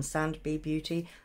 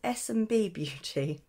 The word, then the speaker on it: SMB Beauty: the name wrong I I think I called them sand b beauty but having checked myself um it's SMB Beauty so I apologize but